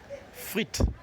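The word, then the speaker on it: frite: Let's pronounce it better. Frit. Frit. Frit. Good.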